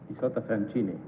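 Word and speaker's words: Isotta Fraschini: How do you pronounce the Isotta name again? Isotta Francini.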